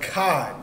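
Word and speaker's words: אחד: But akkad, that's how you say 1. The number 1 in the ancient Hebrew is akkad.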